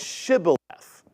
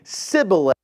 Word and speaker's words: Shibboleth: They had a hard time pronouncing the H as Shibboleth. And they would say Sibboleth instead, therefore giving themselves away.